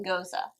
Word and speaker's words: Gose: It's goz-uh. Goz-uh. I said it right the first So I've been time. saying gose for forever. Gose's not right. And it's not goz. It looks like G-O-S-E. Yeah, it looks like goz, but like spelled wrong.